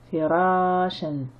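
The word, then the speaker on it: فراشا: Fi, ra, suivi d'une alif de prolongation, ra, shen, firashen. Je rappelle que ici, ce alif n'est qu'un support au tanwin ma al-fatha et qui ne se prononce pas.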